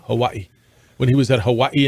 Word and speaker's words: Hawaii: quarterback D.C when he was at Hawaii it's pronounced can you say it that way Hawaii Hawaii when he was at Hawaii and then he